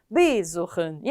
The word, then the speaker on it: besuchen: 동사 원형을 읽으실 때도 aufstehen 이렇게 읽게 되는데 비분리 동사는 비분리 전철의 강세를 갖지 못해서 두 번째 음절에 보통 강세가 가게 됩니다. 그래서 besuchen이 아니라 besuchen 이렇게 읽어주셔야 됩니다.